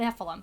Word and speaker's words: Nephilim: things called, is it Nephilim? I'm not entirely sure how to pronounce Nephilim. it. Nephilim, thank you. So, these exist Like in Heffalump.